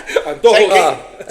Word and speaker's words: antojos: so now here I am on a podcast at Antojos. Antojos. Antojos. Bleep that out. Antojos. It's not Italian, brother. It's Antojos. We're gonna bleep that out and put my voice on it. Yeah. Antojos.